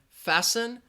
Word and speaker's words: fasten: the H in mechanik the T in fasten and the W in